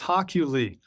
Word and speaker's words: Hochuli: Hockley. It's pronounced Hockley.